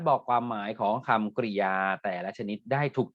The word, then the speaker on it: กริยา: ใน เรื่อง ของ คำ กริยา นะ ครับ พรุ่ง นี้ ก็ คือ ความ หมาย นะ ครับ เอา คำ กริยา นะ ฮะ อ่าน ว่า คำ กริยา นะ ครับ เรา จะ